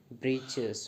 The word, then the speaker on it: breeches: So the new words we have in second para is breeches. Breeches means a short trousers, a pant, right? A trouser pant. The writer here spell it for fun to rhyme with the word which.